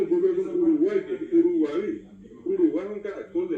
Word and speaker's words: Uruguay: Lo mismo ocurre con Uruguay, que es Uruguay.